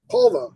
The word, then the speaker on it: Polvo: Polvo, yeah.